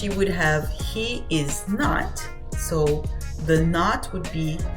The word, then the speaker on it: não: as you can see the word no the teal here on top once again nasal sound no same thing here is